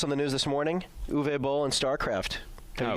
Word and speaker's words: Uwe: Uwe? I could believe that's how it's. Yeah, I believe that's how it's pronounced.